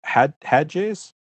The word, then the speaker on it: Hatges: found somebody and I want to welcome Peter had hedges and I pronounced that crack beter that's right all right